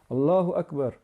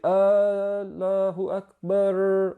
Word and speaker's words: Allahu Akbar: So we don't say Allahu Akbar. We don't pronounce the ra at the end, and we don't prolong the r at the end, and we don't prolong the alif as mentioned earlier.